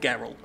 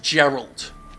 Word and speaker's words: Geralt: It's actually a misconception that he's called Geralt. Uh he's actually pronounced Gerald uh which is based on the Chinese translation.